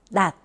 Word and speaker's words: 낮: 자, 그럼 다 같이 한번 발음해 볼까요? 낮. 따라해 보세요. 낮.